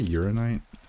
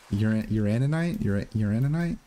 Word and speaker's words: uraninite: Did I say uranite? It's a uraninite.